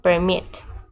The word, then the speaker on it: permit: sílabos per per okay como pueden ver acá va el la fuerza de voz o el acento en la segunda sílaba permit permit Entonces se le